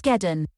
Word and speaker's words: Geddon: it initializing fake net just said geddon it's geddon i think it's based on armageddon i try to see